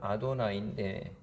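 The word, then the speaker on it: אֲדֹנָי: 히브리어 발음으로는 아도나이인데, 그 단어 자체를 거룩하게 여기기 때문에 그것을 쓰긴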